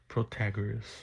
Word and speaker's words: Protagoras: Protagoras, I believe that's how you say it.